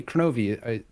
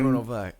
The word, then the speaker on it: Kronovi: And people were saying, "Oh, hey, Kronovi, you're Kronovi," and I'm like correcting them. That's not how you say my name. Chrono-Vie.